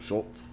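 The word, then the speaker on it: Schulz: Wait, that's how you pronounce the last name, right? Shultz?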